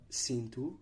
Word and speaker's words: cinto: These vowels become nasalized if M or N precedes the vowel, and M or N will not be pronounced as a consonant itself. For example, Gente, meaning people, cinto, meaning belt, and sargento, meaning sergeant.